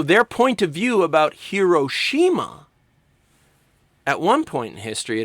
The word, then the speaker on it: Hiroshima: In America, Hiroshima is often pronounced Hiroshima. And in Japan, it's pronounced roughly Hiroshima.